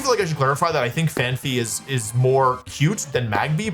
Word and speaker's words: Phanpy: Like, I always thought it was Phanpy, but it's actually Phanpy. Phanpy feels more natural to me, but I'm gonna say it the way it's spelled.